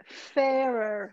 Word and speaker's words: fairer: The first R is softer.